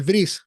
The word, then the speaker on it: Bris: El Brit Mila, se dice Brit Mila, o el Bris, si lo pronuncian en Yiddish, que es el idioma judío alemán.